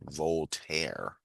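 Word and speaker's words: Voltaire: Volter that's how you say it.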